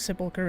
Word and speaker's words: sepulchre: I know it was sepulchre, it's just the CH at the end, sometimes people pronounce it as a ch sound. That's why I was like, I'm hoping I'm saying it correctly. I've heard so many people say both versions.